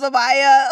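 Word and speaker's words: Mamiya: I didn't want to say the make of it because I'm not sure how to pronounce it properly. Mamia? Who Sometimes knows? it's Mamaya.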